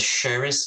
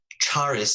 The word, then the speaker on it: Charis: He said Sheriff Davies. It's Charis Davies.